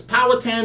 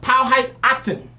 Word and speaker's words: Powhatan: POW height peloton natives which is Powhatan is the wrong way to say the name is called POW hey actin aha actin that's how you say it and that was